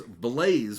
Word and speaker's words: Blaze: So I've just learned that her name was Blaze with a B. Yeah. I thought it was Lays.